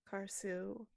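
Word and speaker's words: Karsu: her name again um car sue almost imagine there's a hyphen there like k-a-r-s-u you car-soo are very very important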